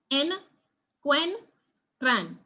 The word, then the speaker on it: encuentran: And it has three syllables, encuentran. So that is why we would say encuentran and not look at it and say something like encuentran or encuentran or something else.